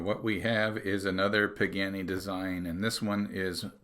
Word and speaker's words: Pagani: of course everyone knows it rhymes with your granny at nine you got it yep it's definitely another so what we have is another pagani design and this one